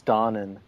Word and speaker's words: Donen: That's What did actually you not learn how in you school pronounce today? his name. It's Oh, Donen? what? It's dawning.